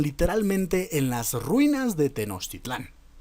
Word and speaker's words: Tenochtitlan: y fortificaron la ciudad de tenochtitlán perdón de tenochtitlan no sé por qué insisten en pronunciarla mal pero tenochtitlan porque porque pensaron que